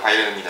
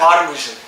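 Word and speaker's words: München: 많은 축구 팬들 뭐 미넨 생각나는 바이에른 미넨. 바이에른 뮌헨. 걔네는 발음을 바이에른 뮌헨. 뮌헨. 걔네는 발음을 이렇게 하더라고요. 알리안츠 아레나.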